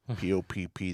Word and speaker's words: Popp: Yeah, Terrence spelled with an E, P-O-P-P, the second P is silent.